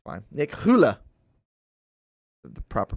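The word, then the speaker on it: Rulle: People would say rule or rula. I call him the ruler. He loves that. Hula. Rolling R. There's probably some rolling R's in this, by the way.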